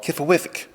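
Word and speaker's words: Qfwfq: It's a series of short stories, all narrated by this ancient being called Kifawithik. That's how I pronounce it anyway. There's no vowels in the name.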